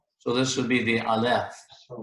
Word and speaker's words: Aleph: In the majority of Hebrew words, the accent's going to be on the last syllable. So this would be the Aleph.